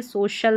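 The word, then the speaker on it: social: यहाँ पर SO सो हो गया, और यहाँ पर शल CIAL ये कोड हो गया, इसको नोट रखें, ये सोशल बन गया, सोशल।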